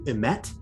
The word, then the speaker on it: emet: The first is that on its forehead could be written the keyword that would be pronounced something akin to emet, which means, I think, like truth or something.